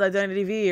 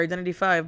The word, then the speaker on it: Identity V: here i'm obsessed with identity v or identity five but i like calling it identity v because identity five for me sounds weird i know it's the proper way to say the game but whatever there